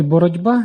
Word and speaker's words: боротьба: Наприклад, у слові «боротьба» дзвінкий «б» впливає на попередній глухий «ті» і уподібнює його собі. Цей звук перетворюється на «ді», який також є дзвінким.